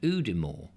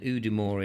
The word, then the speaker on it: Udimore: Now, is there, lovely Julia, a mere at Udimore?